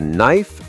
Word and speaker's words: knife: I'd like the knife and fork, please, to cut my lamb. Oh, knife and lamb both have silent consonants. Exactly. If you said knife or lambb, it would sound really unnatural, but when you know